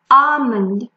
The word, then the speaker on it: almond: L is also not pronounced when it is in the middle of A and M, like in almond.